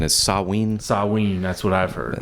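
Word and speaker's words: Samhain: you correctly pronounce that I believe the correct pronunciation is saween sawe that's what I've heard but people call it Sam Hayne mhm and uh his philosophies and teachings really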